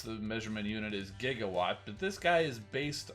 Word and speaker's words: Gigawatt: is fun to transform back to the future jigawatt i'm not usually big on the crossover figures but i couldn't pass on gigawatt yes i know the proper way to pronounce the measurement unit is gigawatt but this guy is based on back to